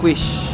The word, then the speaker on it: quiche: Terus yang ini adalah smoked beef quiche. Quiche bacanya.